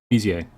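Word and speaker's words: Bézier: Finally look that up, how to pronounce that word. It's Bezier.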